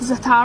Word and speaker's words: za'atar: Za'atar? I think it's pronounced za'atar.